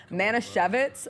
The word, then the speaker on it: Manischewitz: So I called my Jewish best friend to clarify the pronunciation of this, but Manischewitz, which is the primary kosher food company, they just sponsored him.